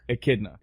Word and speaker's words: echidna: So Knuckles is what's the proper pronunciation? Echidna? Echidna.